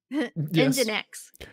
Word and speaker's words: Nginx: How do you say it? Nginx? Engine X. I'd always heard it said as Nginx. So Nginx.